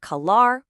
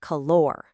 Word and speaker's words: calor: Not calar, but calor. And second, you gotta roll that R.